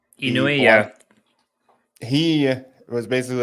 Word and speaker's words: Inui: And then we also know Anui. Is that how you say his name? Inui, yeah.